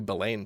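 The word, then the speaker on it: Billain: listening to some new Billane tracks. Or Billin tracks. I think he's pronounced his name Billin.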